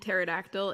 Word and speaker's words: pterodactyl: um yeah you know the p and pterodactyl is silent but the p and